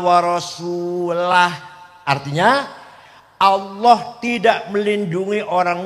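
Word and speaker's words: وَرَسُولُهُ: barium Minal musyrikina wa rasulih salah Allah tidak melindungi orang musyrik dan tidak melindungi rasulnya salah yang benar bacanya Innallaha barium Minal musyrikina waasulah artinya allah tidak melindungi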